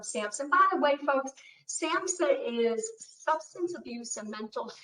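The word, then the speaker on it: SAMHSA: by the way folks samsa is substance abuse and mental health services administration so the age is silent because some people say samsha and you know it's also sam take out that age samsa uh dr bennett is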